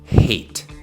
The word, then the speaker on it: hate: Hate, la H no es muda, no decimos eight. Si dijéramos eight, estaríamos diciendo el número ocho en inglés. E. Entonces es muy importante que suene esa h, que pronuncies bien lo suficientemente fuerte la H en este caso.